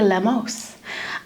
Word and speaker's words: Lemos: I was always Lemos growing up, Lemos, and now I put a little twist. It's supposed to be Lemos, but you Americanize it, I guess.